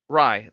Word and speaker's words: Rai: Rai. It's pronounced. Think like Raichu. Because Rai is. Rai. Yeah, because it's a play on thunder.